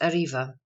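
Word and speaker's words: arriba: civil or criminal suits Ariba Spanish pronounced Arriva Aloft quickly to mount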